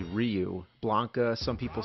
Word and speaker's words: Ryu: We didn't know Ryu was actually Ryu.